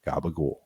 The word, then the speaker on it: gabagool: You see the second to last vowel, an O sound gets raised. So change that to an U and toss out the last syllable.